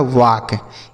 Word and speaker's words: walk: L और K है, तो बच्चों यहाँ यल और के एक साथ है ना, तो ये जो यल रहेगा यह साइलेंट होगा, मतलब इसे हम नहीं पढ़ेंगे। के से पढ़ेंगे क। यह लिखा है वाक।